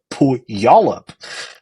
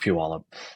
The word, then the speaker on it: Puyallup: And it, to me, looked like a town called Puyallup. Cool. But Y'all little did up. I know that it was actually pronounced Puyallup.